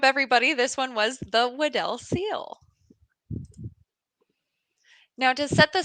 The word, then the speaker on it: Weddell: impressive um it was in fact the waddell seal or weddle seal there's actually fun fact no right way to say it so any way you